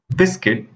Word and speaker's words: biscuit: The next letter is U. Here, you don't have to pronounce the letter U. Try it. It's guard, biscuit, building, rough, tough.